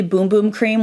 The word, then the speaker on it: Bum Bum Cream: I used to say Bum Bum Cream, but it's actually Boom Boom Cream when I looked it up.